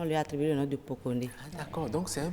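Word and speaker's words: Pokoné: Aujourd'hui, nous allons parler du prénom Pokone. Pokone. Pokone. Ça s'écrit P-O-K-O...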